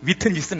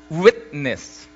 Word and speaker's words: witness: T 발음이 세게 나면 안 돼. witness는 아니라고. witness. 맞아요.